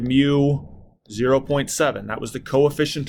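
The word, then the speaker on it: μ: friction from those objects the symbol for this is kind of this funky-looking U and it's pronounced mu that is the symbol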